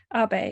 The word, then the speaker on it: Abe: Abe, am I pronouncing Abe properly? yeah, exactly. Abe.